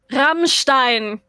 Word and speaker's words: Rammstein: Rammstein. Rammstein? Rammstein. It means battering ram. Rammstein. You have the whole the R. ram. Rammstein. Rammstein. Yeah. Okay. Rammstein.